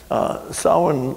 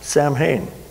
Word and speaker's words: Samhain: pronounce it all well that's how sauhan is sawin looks like it should be not pronounced samhain in fact there's an old saying what the